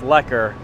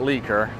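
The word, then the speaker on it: Lekker: k r which is actually pron which is pronounced leer not leaker that would be uh probably not a great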